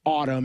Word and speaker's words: ATUM: it was supposed to be it's okay so it's spelled atum but it's it's Autumn is how it's is how it's pronounced and